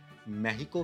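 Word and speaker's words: México: वैसे तो ये नाम सिर्फ किताबी ही है, क्योंकि इस मुल्क के रहने वाले भी अपने मुल्क को मेहिको के नाम से ही पुकारते हैं, क्योंकि स्पेनिश में एक्स को एच प्रोनाउंस किया जाता है, इसलिए यहाँ के रहने वाले इसे मेहिको कहते हैं।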